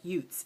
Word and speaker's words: Ute: we've decided on we're going to say it like Utes. It rhymes with boots.